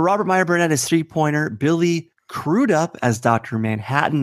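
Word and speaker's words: Billy Crudup: would say but Robert Meer Bernett is three-pointer Billy cruded up as Dr Manhattan not Billy crud up as Robert said as a lot of people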